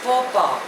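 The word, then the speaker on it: faux pas: the next word is फ पा spelling is एफ ए यू एक्स पी ए S pronunciation is फो पा इट इज अ French word it means अ social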